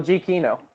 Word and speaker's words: Giacchino: Michael G. Kino. That is correct. Okay. People are starting The to correct pronunciation.